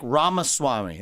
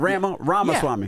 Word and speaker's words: Ramaswamy: Yeah, it's like Ramaswamy, like CD-ROM, but yeah. Well, I said Ramaswamy. Yeah, you got it. though. Ramaswamy.